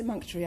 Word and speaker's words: emunctory: Yes, emunctory. I'd pronounce it like that.